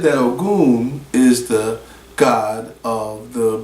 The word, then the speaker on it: Ogun: Ogun's name starts with OG. You hear Ogun in the way the G-U-N is pronounced, and his name is Goon.